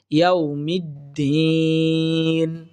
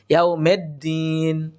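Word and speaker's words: يَوْمِ الدِّينِ: হচ্ছে মালিকি এরপর দেখুন ইয়াউমিদ্দিন ইয়াউমিদ্দিন এখানে একটা বড় ধরনের আমরা ভুল করে থাকি সেটি হচ্ছে আমরা উচ্চারণ করতে দেখি এখানে অনেকেই বলে থাকি ইয়ামেদ্দিন মেদ্দিন মেদ্দিন হবে না আমরা পড়বো মিদ্দিন অর্থাৎ মিম দাল জের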